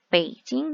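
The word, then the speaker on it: 北京: 수도 였어 초 음 중국의 수도 북경 이라고 부르고 중국어 발음으로는 베이징 이라고 합니다 저 파란색 통을 하면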